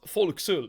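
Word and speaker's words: forecastle: Uh I'm on my ship in the for castle, which is pronounced folks for some reason.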